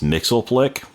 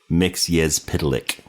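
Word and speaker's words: Mxyzptlk: Um a very common way that people pronounce his name is Mixelick. That is not the correct pronunciation. It's Mix Pitick.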